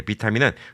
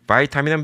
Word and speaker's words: 비타민: 예전에 비타민이라고 있습니다 예 비타민은 독일식 발음이고요 바이타민은 미국식 발음입니다 예 그래서 요즘에는 한국도